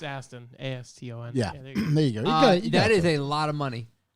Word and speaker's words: Aston: Austin Martin. How do I spell it? It's Aston.